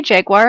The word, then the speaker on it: jaguar: serge can you say jaguar again jaguar all right did i say it wrong from the penguins pronunciation yeah yeah mary jaguar there is no uire in jaguar jaguar jordan you ready